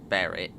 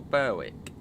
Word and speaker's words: Berwick: and the other one on this route is Beric which I used to call Berwick I used to there's Beric whereas the northern